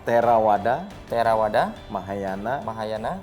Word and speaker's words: Theravada: Mahayana Fajriana Fajr fajrana kalau di budhis itu biasanya V itu dibacanya W ya Oh jadi di bacanya terawada terawada Mahayana Mahayana wajrayana